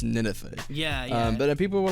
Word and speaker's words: Ninethie: yeah see a lot of people think it's ninthy um that's where i thought it grammatically makes